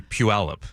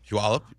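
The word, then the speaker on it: Puyallup: What about What is How do you pronounce the city where Brock Huard and the whole Huward family had I say Puallup. Puallup. Okay. Puallup.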